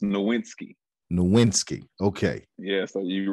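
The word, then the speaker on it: Nowitzki: next to him next with it it's it's pronounced nowinski nowinski okay yeah so you really gotta just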